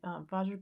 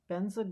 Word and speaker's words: Vajra: Or if you were going to, I can't pronounce Sanskrit really, but if you're going to pronounce Sanskrit as it sounds, the Om Ahum Vajra Guru Padma Siddhi Hum.